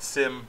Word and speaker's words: SIEM: something called a sim it's actually SIEM but it's pronounced sim by most security professionals a sim is a